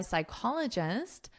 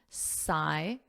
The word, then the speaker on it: psychologist: according to research by psychologist Gloria Mark so notice the pronunciation here Sai so there's no p in the pronunciation psychologist psychologist and this is your syllable stress psychologist repeat after me psychologist